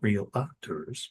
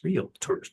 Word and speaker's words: realtors: So this is pointing out that this is a mastermind for realtors, not realtors, realtors, two syllables.